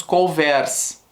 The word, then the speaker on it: couvert: Além disso, é muito comum os garçons prepararem os couverts. Couverts? Eu falo couvert. O T é mudo.